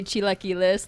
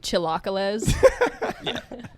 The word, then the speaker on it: chilaquiles: the hawaii stuff like when you go to a mexican restaurant and they like over pronounce it like super hard yeah you say chilaquiles like chilocales that's some queso please